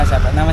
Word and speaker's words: Siapa nama: Nama siapa? Nama saya.